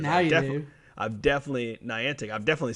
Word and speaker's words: Niantic: I do not know how to pronounce their name today, apparently, because now you do. I've definitely... Niantic.